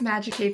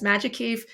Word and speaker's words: MAGICAVE: Yes, it's MAGICAVE. Thank you so much. I'm also excited to be here too. And yes, MAGICAVE.